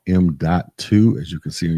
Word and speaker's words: M.2: Yes, it is pronounced M.2 form factor SSD hard drive.